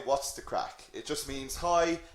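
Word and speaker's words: craic: okay this word here crack it is just pronounced like c or a c k crack so what's the crack and what this means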